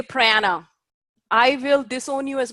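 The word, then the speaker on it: प्राण: and please don't say prana I will disown you as my student if you say prana brahmana prana and don't say prana its prana Buddha honour viana Samana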